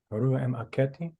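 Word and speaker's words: Harmakhet: Haramaketi. Yes, Benjamin. Say it again. Haramaketi. Is that how you pronounce it?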